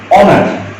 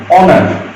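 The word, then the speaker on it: honour: যেমন আমি এখানে যেটা বলছি অনার, এর উচ্চারণ কিন্তু এইচ নাই, অনার, অনার, এমন যখন হবে তখন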